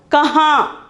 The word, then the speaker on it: कहाँ: Then the sixth one is kahan. Kahan. The pronunciation is kahan.